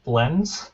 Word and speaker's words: blends: Actually, right here you have blends. Blends. This NDS is also a blend. Right? This S at the end, you have to say the S at the end without adding a syllable.